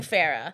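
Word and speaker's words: Phara'h: So one R, so it's going to be P-H-A-R-A apostrophe H. Pronouncing Farah.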